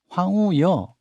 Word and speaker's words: 황우여: 국민의힘은 비대위원장으로 황우여 이렇게 발음해야죠. 네. 황우여 전 부총리.